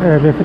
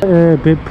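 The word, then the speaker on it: 別府: ベップと読みそうになりますが、ベフですね。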